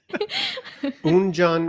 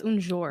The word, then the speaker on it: un jour: Un John Un Rosé. It's like no, that's un jour.